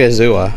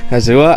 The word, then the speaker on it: Azula: Yeah, I mean, Sasha's basically Azula. Like, Azula. I think I said the name wrong, but it was like the sister of Zuko.